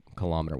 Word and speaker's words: kilometer: So kil-o and then M-E-E-T would be how to pronounce it.